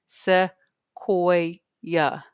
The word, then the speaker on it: Sequoyah: So if you did not know how to pronounce his name, Sequoyah.